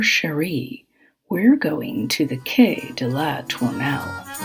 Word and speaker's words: quai: or rather tomato tomat i will be pronouncing it in the french way during this episode there